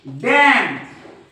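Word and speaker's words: damn: जोडीला जर एम आला या n च्या जोडीला जर एम आला तर हा एन नेहमी सायलेंट असतो मग असतो की नाही आपण बघू याचे स्पेलिंग बघू आपण कॉलम कॉलम त्याच्यानंतर डॅम डॅम त्याच्यानंतर हिम हिम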